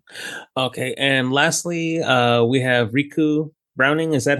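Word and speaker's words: Ricou Browning: And lastly, we have Riku Browning. Is that how you pronounce his first name? Rico Browning. Yep. Rico Browning.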